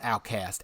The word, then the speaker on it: OutKast: OutKast, pronounced outcast.